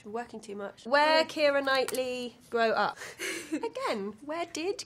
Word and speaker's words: Keira Knightley: Keira Knightley. Keira Knightley. That's how I pronounce my name.